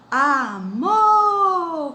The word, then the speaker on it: amor: Amor, com a sílaba mais forte, mo, que é a última.